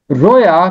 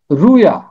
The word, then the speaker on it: رویا: لکھا ہوا ہے رویا، رے کے اوپر پیش، رویا۔ رویا کسی دور میں تلفظ ہوتا ہوگا، اور یہ پرانا تلفظ ہے۔ آج کل اس کا تلفظ ہے رویا، اور یہ مذکر ہے۔